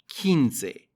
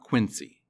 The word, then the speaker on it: quince: pronunciation notes look at kinsei in english we're used to q-u-i being a kui sound and spanish q-u-i is ki kinsei not quincy kinsey the number 20 is